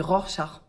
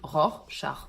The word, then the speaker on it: Rorschach: petit test de rassard on dit Rorschach c'est un mot compliqué c'est un mot un peu compliqué alors merci de votre indulgence Rorschach on dit ROR char c'est un peu compliqué